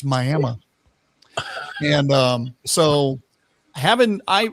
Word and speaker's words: Miami: We have a Miami, Oklahoma, but it's Myamah.